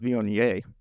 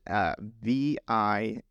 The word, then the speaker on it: Viognier: Pronounced Viognier.